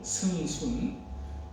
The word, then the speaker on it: 승순: 한국말로 승순. 그래서 경상도 애들은 성순아 이렇게 부르고 미국 가서 학생증을 받았더니 승양 이렇게 써있더라고요.